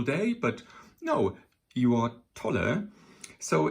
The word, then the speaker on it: Tolle: and that is be Tolle, or Tolle, sorry, I pronounce it always in a kind of German way with an umlaut here.